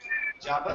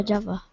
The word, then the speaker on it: Java: what island is um Java Java yeah Java thank you okay they're laughing at me because I pronounce the the place wrong so it's in Java